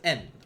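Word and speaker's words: 円: And remember, in Japanese, even though it's written as Y-E-N, yen, it's pronounced as en.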